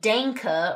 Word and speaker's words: danke: Now, final point, with the 'danke', notice the sound the 'a' is making here, right? It's not some sort of 'dAnke' or something like that. You have to have a real 'ah'. Right, 'danke'.